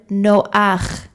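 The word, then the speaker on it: נֹחַ: a vowel sound underneath the vowel sound comes first this is an exception to the rule generally when we pronounce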